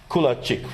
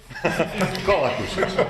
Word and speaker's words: Kolakušić: And another colleague from Croatia, Kulačić, right? Do I pronounce it correct? Right now, not. Kolakušić.